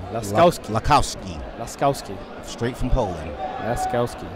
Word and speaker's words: Laskowski: I'm trying to figure out how to pronounce Lasowski's name. Not the best with Polish names. It's Laskowski. Laskowski.